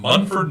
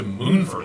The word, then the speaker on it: Munford: ha ha that's true why in the world would you go from munford to moonvert it's not like it's spelled m-o-o-n authority i'll say it